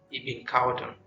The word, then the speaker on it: Ibn Khaldun: about Thomas Aquinas and Ibn Khaldun. Yes, I went to look for the correct pronunciation, so it is Ibn Khaldun, not Ibn Khaldun.